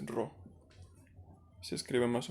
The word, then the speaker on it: Rho: Este símbolo parece una P, pero es Rho.